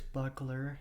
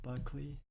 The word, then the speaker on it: Buckler: I said uh my mastering engineer's name wrong. It's Buckler and I did Buckley.